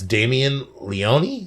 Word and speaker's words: Damien Leone: In this case, it's Damien Leone.